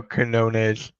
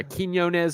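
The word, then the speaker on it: Quiñones: a couple different ways I just go kones yeah konz I've heard Quinones whatever you want to what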